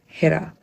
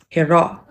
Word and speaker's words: Hira: For example, my name in Urdu is pronounced Hira. The R in my name is quite soft and blends with the rest of the name. But time and time again, I have Arab folks who have told me that my name is actually pronounced Hira. There's no hard R or H at the end of my name.